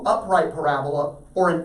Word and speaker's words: parabola: all right parabola okay emphasis on the second syllable parabola say that with me